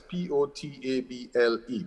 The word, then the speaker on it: potable: That is P-O-T-A-B-L-E, potable, not portable, which for some reason is pronounced the same way, which again speaks to this deterioration in standards and norms.